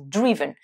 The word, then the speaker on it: driven: I, drive, mais attention, au participe passé, vous allez faire le son I, driven.